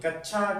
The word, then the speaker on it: कक्षा: ठीक है, कई स्टूडेंट्स इसे कक्षा पढ़ते हैं। कक्षा, कक्षा नहीं होता, इसका शुद्ध उच्चारण होता है कक्षा। इसका मतलब है क और श का साउंड आना चाहिए, क और श का साउंड आना चाहिए।